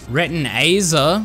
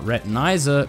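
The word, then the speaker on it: Retinazer: Retinaer, not retinizer. Retina. I said it right, guys.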